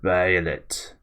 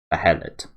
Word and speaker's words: Behelit: See, it's spelled there like Behelit. No EA or AE. Behelit.